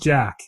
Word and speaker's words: Jacques: boss who goes undercover is jacques copper but pronounced jack yeah they make a